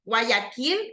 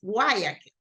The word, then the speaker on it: Guayaquil: For example, we don't say Guayaquil, it's in Spanish, right? But in English, it's Guayaquil, right? So just remember that, okay?